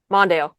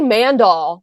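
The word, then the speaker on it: Mondale: Manddale. Oh my gosh. I used to say Mandal. Did you? Yeah. I was like, Mandal? What? No, it's Manddale.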